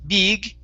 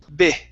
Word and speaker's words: big: This word here, it's a short I sound. So instead of saying be, big, okay, drop your tongue down. It's big. Big.